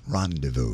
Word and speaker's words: rendezvous: and he said that's Rendezvous it's French it's not pronounced the way it's spelled it's a just awkward